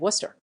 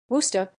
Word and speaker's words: Worcester: kind that lives in Massachusetts that's how you pronounce the city of Worcester Worcester dollar 25 please I thought it was used